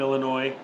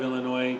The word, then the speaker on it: Illinois: what's a big one i'm from illinois but everyone outside of illinois pronounces the s it's hey you're from illinois sir no i'm from illinois um yorkshire pudding that's